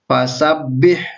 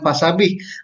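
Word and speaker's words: فسبح: Jadi fasabbih, jadi baca ditekan. Fasabbih. Nah, jadi bukan fasabih.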